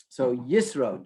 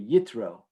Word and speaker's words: Yitro: So, Yisro, Jethro. I will, for the rest of this evening, be referring to him as Yisro. If you prefer the Sephardic pronunciation, it would be Yitro.